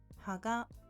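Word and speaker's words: 葉: Ha, which means leaf, has lower pitch than the following particle, so it's pronounced haga.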